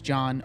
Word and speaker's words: John: Jean spelled like Jean my name is John with a silent H I'm so glad that